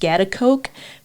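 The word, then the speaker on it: Schaghticoke: It's pronounced Scottsbluff, but if you look at it, the way that it's spelled, I don't know if you would come up with Scottsbluff.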